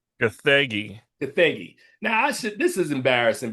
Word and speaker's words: Gathegi: David Cornsweet, Rachel Brosnahan, Nicholas Holt, Edie Gathagi. Gathegi.